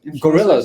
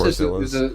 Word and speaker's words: Gorillaz: Gorillas, Yeah. exactly. I think Gorillas Gorzillas.